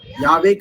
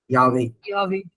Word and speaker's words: Yahweh: ஆக்சுவலா யாவேக்கு அர்த்தம் வந்து பாத்தீங்கன்னா ஐ ஆம் வாட் ஐ ஆம், இருக்கிறவராகவே இருக்கிறவர்.